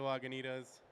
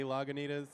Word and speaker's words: Lagunitas: the ingredients for our beer super key to Lagunitas I'm gonna take the last two minutes and